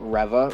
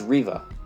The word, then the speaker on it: Reva: It did a good job at setting up Reva, or actually, as I've been pronouncing it wrong these last couple of months, actually, at this point. It's Reva. I always said it was Reva.